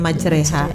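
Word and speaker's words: مجراها: juga ada yang aneh biasanya majriha yang aslinya itu di situ mah dibacanya majreha ya untuk segat tertentu yang disebutnya istilahnya imalah jadi macannya harus dimiringkan majreha gitu Padahal majri asalanya seperti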